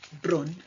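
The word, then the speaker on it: Bruhn: Then we find the German form of Brun or Brown, spelt with a H, silent, Brun, Bruno.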